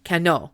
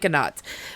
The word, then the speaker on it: Canot: And when you look it up on YouTube, it tells you to say cano because it's giving you the French pronunciation, but in every documentary I watched, they said canot. So, I'm saying canot because apparently that's how the locals say it.